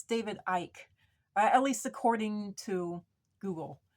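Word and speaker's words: David Icke: I found out that it's not pronounced David icky or eki or even Ian it's David Ike at least according to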